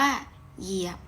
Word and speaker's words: เหยียบ: เป็น หยอ หยอ เอีย บอ ก็ อ่าน ว่า เหยียบ นะ คะ ส่วน นอก จาก หอ นำ เนี่ย